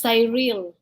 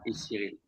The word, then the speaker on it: Cyrille: And sometimes they pronounce it as Cyrille. Yes, that's the American version, Cyrille. Yeah. Cyrille. So I all the time tell them, it's French version is Cyrille.